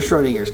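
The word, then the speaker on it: Schrödinger: well that down there Schrodinger's cat how'd you pronounce that it's called Schrodinger's it's actually Schrodinger and the apostrophe s just adds the s sound to it this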